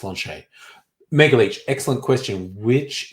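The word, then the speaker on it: sláinte: where it's written s-l-a-i-n-t-a which looks like uh slante or a slant or slate slanted but it's pronounced launch a mega leech excellent question which is cheaper this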